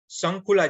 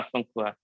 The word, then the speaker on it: शंखुआ: शंखुला जी right? हाँ शंखुआ। शंखुआ।